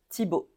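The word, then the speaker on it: Thibault: avec notre accent français on prononce o Tibo alors gu G comme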